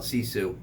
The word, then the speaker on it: Sisu: buttons today we're going to be talking about cesu that's right s i suu if anyone ask you yeah did you see cesu what's cisu cesu how you spell that s i s